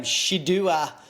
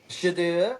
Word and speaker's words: Shedeur: Shedeur Sanders? Shedeur Sanders. Shedeur Sanders.